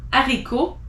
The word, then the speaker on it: haricot: You don't pronounce the H if it's in the beginning of a word. So as an example, hiver, heure, histoire, hasard, haricot, honte.